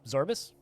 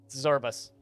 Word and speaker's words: Zorbus: that the game oh zorbus it's like morbius minus the more and the bias zorbus z-o-r-b-u-s this is a